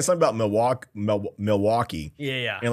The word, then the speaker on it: Milwaukee: have you they're saying something about milwa mil Milwaukee yeah yeah and like oh actually it's pronounced milake and they like and they all just they're